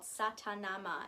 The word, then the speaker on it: Sa Ta Na Ma: And the way it works is that it's 4 syllables: sa, ta, na, and ma.